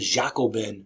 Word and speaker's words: Jacobin: French Revolution called the Jacobin or you'll see it spelled like j a o b so Jacob but it's not Jacob it's jao like with the Y Jacobin societies which has